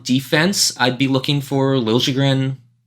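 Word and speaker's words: Liljegren: I'd be looking for lren that's the way he want Timothy Timothy lren he wants the uh J pronounced now he wants he is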